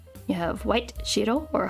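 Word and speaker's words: 白: in tenshi which is what I am also pronounced as Ahmed you have white Shiro or Haku yaku and then I always mess up the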